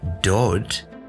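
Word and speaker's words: דוד: So you have a Dalet, and it's the word dod. Again, it gets a little O sound vowel point.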